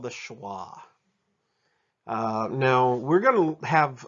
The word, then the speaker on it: schwa: the word sha notice I don't pronounce it shuwa I pronounce it schwa some observations on these short vowels you notice